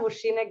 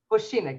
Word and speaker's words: Vošinek: Okay, and our friend, you tell your name so I don't mispronounce it. Go ahead. My name is Vošinek Vošinek, is that how you say it? Vošinek, yeah, Vošinek.